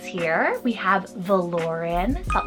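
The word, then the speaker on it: Valoryn: um kind of futuristic names here we have voren v a l o r y n voren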